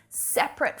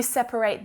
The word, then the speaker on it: separate: separate keep the cheese separate from the meat and usually you just hear it pronounced with two syllables separate but as a